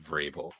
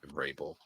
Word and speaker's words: Vrabel: It's pronounced Vrabel. Mike Vrabel.